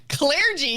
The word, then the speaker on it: clergy: really splitting hairs on how we pronounce an er is that is that the point we've gotten to because clergy is a thing yes clear g clergy is so i put a little more emphasis on my ear like okay